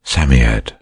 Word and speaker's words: Psammead: robert anthea and jane that it was a samiad or sand fairy samyad is pronounced sammiet it was old old old and his birthday